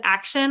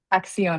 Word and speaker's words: Axion: Is it action opportunity fund? Axion Opportunity Fund.